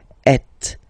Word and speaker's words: êtes: Notice that final S is not pronounced. Et.